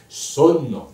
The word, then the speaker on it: sonno: Dans la prononciation, quand on chante, on doit dire sonno. Là, j'exagère évidemment, les deux N sont très importants.